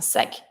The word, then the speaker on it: sac: I pronounce my C, un sac.